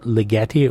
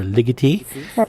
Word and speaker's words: Ligeti: I certainly think about your work with Ligeti, whose name I always fear I'm mispronouncing because I've heard it both ways. And I've been lectured with equal conviction about Ligeti or Ligeti.